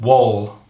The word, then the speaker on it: Wahl: And then up until now I've been using some Wahl, what's that how you say it?